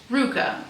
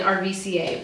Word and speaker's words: RVCA: That's spelled RVCA, pronounced Ruka. I didn't know this until very recently. I called it RVCA, but these are just some cute, like oversized, breezy rayon overalls.